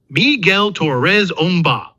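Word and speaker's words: Miguel Torres Umba: Ben is played by movement specialist Miguel Torres Omba, pronounced Miguel Torres Omba in a suit built by Millennium FX.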